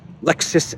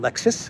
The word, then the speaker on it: Lexus: The first clown world is Lexus and Vovan. Vovan and Lexus, I believe that's the proper way to pronounce the prankster dynamic duo.